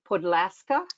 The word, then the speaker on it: Podlaska: is i think your last name is pronounced podlaska is that right yes she's from warsaw poland